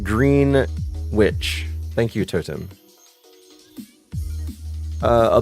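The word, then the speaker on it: Greenwich: It's pronounced green witch.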